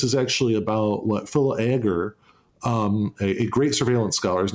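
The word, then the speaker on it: Agre: I think that this is actually about what Phil Agar, a great surveillance scholar, his name is spelled A-G-R-E, described as capture.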